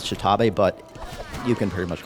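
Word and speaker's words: X'Tabay: Her name is spelled, it's X''Tabay, so I think the official pronunciation is Shitabe, but you can pretty much call her whatever you want.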